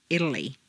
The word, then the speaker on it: Italy: in Ted or Italian a te in the middle of a staircase is pronounced as D Betty Italy whereas a t at the